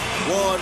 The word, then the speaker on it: Juan: Not hard at all, especially when you hear the name Juan Manuel Marquez. You know that means trouble as soon as the J part comes out. Although it's pronounced with a W, as in Juan, you know when you hear that, that means war.